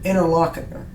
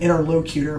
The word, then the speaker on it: interlocutor: He calls it an interlocutor, is how most people pronounce it. I've been pronouncing it wrong, I guess, for the past 30 years of my life. I keep saying interlocutor, but apparently that's wrong. We will get to that